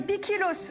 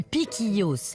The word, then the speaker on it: piquillos: à les prononcer aussi on dit piquillos m c'est ça ah